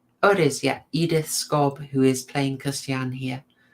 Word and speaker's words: Edith Scob: Think what a nightmare it was for, and I've got to check so I pronounce it correctly. Oh, it is, Edith Scobb, who is playing Christiane here.